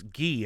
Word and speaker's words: Guy: Well, another question from, I guess it's Guy as in guitar.